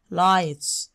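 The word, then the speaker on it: light: عندي هنا يا ود الجي اتش اي سايلنت يا مس لا تنطق لايت لايت لايت حديقه خاصه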